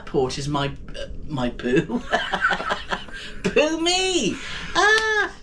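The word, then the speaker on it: Phú Mỹ: Yes, it's it is spelled poo and then my, isn't it? Yes. Poo me, but it's ph and there's some little funny things over the u like like an omelette.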